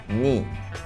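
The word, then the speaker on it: knee: é uma é uma letra Muda você não vai pronunciá-la então você pronuncia joelho NI NI tá ni começa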